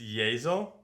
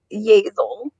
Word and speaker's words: Yeazell: It's Yeazell. Yeazell, like it rhymes with nasal.